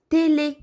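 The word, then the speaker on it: télé: средата или в края когато върху ъ имаме ударение го изговаряме е обърнете внимание на тези три думички а бебе изговаряме отворено е бе бе защото има ударение бебе н теле означава телевизор нте те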